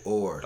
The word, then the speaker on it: Oher: uh Mr Michael Oher Michael Oher like the paddle like a paddle sorry it's not spelled